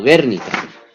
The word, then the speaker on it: Guernica: Es en este contexto, ¿no?, en el que, entre otras cosas, se produce, por ejemplo, la batalla de Guernica, ¿no?, o Guernica, para ser más exactos en la pronunciación, que pues es importante